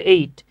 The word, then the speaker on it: ate: বলতে পারি শি এইট আমরা অনেকে অ্যাট বলি উচ্চারণ হচ্ছে এইট শি এইট মি আপ